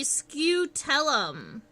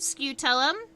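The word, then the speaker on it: scutellum: in here on stink bugs is called the scootellum that is spelled um since I'm sketching I'm not like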